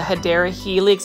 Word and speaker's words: Hedera helix: They almost remind me of a Hedera helix, or the correct way to say it is a Hedera helix, English ivy.